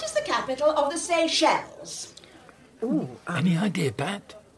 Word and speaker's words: Seychelles: The Seychelles. It doesn't have an S on the end. It does. It's written down here. Yes, perhaps, Mrs. Bellamy, but it's a silent S if you pronounce the word correctly.